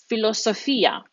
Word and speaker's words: filosofia: Philosophy, now that PH actually changes into an F in Italian. There's no PH combination like in English. That becomes la filosofia. La filosofia.